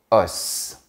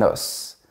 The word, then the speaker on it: os: Au singulier, on dit un œuf, un bœuf et un os. On prononce bien les dernières lettres. Mais au pluriel, on dit des œufs, des bœufs et des os. Oui, le F et le S ont disparu de la prononciation.